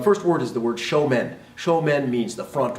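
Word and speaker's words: 正面: the word is pronounced show men and that's sho Mon right you'll hear our students say show Monte Rea it's not show Mon it's show men pronounced the same way as the word men English although it doesn't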